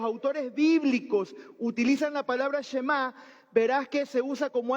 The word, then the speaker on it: Shema: significa Chema escucha escucha esta palabra se pronuncia Chema y de ahí es